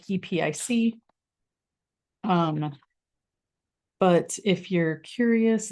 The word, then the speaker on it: Epique: to pronounce it because it's spelled in the French way but it is pronounced epic just like epic um but if you're